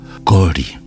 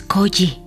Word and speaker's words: Koji: Ipei, sin perder la sonrisa de los labios torcidos, repitió, "Kori." No, Kori no. Es Koji. "Kori", insistió Ipei.